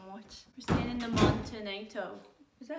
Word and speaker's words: Montenotte: We're staying in the Montenotte. Is that how you pronounce it, ma'am? Montenotte Hotel.